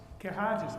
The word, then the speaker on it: Cahagius: Item 5.1, zoning calendar, V-1-23, a request by the petitioner Cahagius, is that pronounced correctly? Pretty close. How do you pronounce it, sir? Cahagius, I was close.